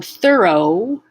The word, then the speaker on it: thorough: o sound so thorough let's just say the the end row it's like r o w row or r o e row but the beginning voiceless th into a schwa r third like for thirsty third thorough thorough thoroughly if i would